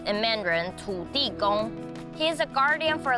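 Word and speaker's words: 坐: right M you know in mandrin sit is pronounced as to and the pictographic image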